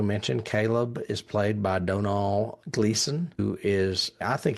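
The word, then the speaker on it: Domhnall: And it is pronounced Donal. I looked that up because it's spelled with an M, and the M is silent. Donal. Yep. Donal.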